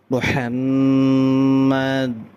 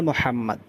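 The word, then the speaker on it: محمد: মোহাম, মোহাম, হাটা উচ্চারণ করতে হবে। আশহাদু আন্না মোহাম, আন্না একালিফ গুণনা, মোহাম মিমের উপর তাসদীদ মিম একালিফ গুণনা হবে। মুহাম্মাদ, মুহাম্মাদার।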